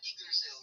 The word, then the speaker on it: Yggdrasil: I know that it's Norse pagan, but I don't know how to pronounce it. Yeah, it's Yggdrasil.